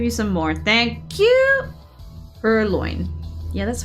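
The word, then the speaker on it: Purrloin: You said it right the first time. Pearlloin. Perloin is the right way to say it over here.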